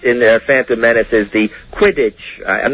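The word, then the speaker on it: Quidditch: pod race it's in Phantom Menace is the quiddit I'm not sure if I'm saying that right you're saying it right yeah quiddit is that right Harry yes it's quittage yeah and how do you play that game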